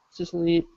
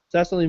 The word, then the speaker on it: Cecily: We're going to talk about the OWS activist, Cicely, I never know how to say her name. Cicely McMillan. Cecily McMillan, thank you.